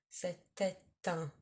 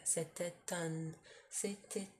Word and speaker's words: c'était un: But when there's a U after it, for example, you might hear c'était un, as in you pronounce the T because it's followed by a vowel.